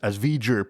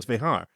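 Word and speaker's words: Vejar: I pronounced it incorrectly as V'ger previously, not realizing, but I've heard since then that it's Vehar.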